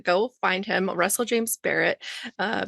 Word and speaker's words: Barratt: Barrett.